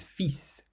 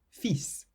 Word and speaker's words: fils: The word son in French is fils, fils.